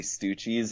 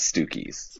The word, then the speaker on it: Stucci: So I think they're actually Stoochies, and I think it's part of Gloria's charm that she mispronounces them as Stookies.